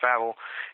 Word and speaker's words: Wawel: V Castle it's actually with do but it's pronounced Vel it sits up top of a hill by